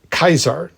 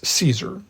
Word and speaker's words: Caesar: was Jupiter not Jupiter and it was Julius kaisar not Julius Caesar anyway we'll get back to the pronunciation in a bit but anyway ver or